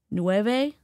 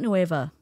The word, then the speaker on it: Nueva: Nove is not noeva.